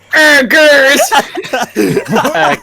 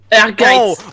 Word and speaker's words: Ehrgeiz: Oh, all that comes into my head to pronounce this is just. Ergers! Ease? I'd probably be way wrong too. Guys. That's what most people call it. Yeah. Urges.